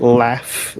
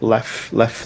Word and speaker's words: laugh: the pronunciation is like laugh laugh left. So the u g h sounds like a f f sound.